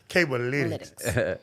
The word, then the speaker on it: Cablelytics: Cablelytics.